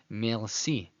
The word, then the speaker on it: merci: So the French R brings the pronunciation from the back of the throat to the front. In English pronunciation, it'd be merci, merci, merci to say thank you in French. In Spanish, it sounds merci, merci, hear that R.